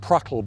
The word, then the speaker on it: PRTL: And for them, they actually quite like that because PRTL, pronounced pruttle by the troops, which means like splutter, almost the noise of the guns when they're firing, didn't sound as good.